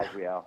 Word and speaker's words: Azrael: You've got Death Angel and, of course, Winds of Plague, The Agonist, and I guess it's Azrael, I guess is how you pronounce it. Yeah, Azrael.